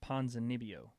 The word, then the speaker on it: Ponzinibbio: Ponzinibbio. Got to pronounce the B's.